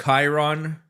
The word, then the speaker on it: Chiron: Who else you know who has a Bugatti Chiron? Actually, it's pronounced Chiron, sir.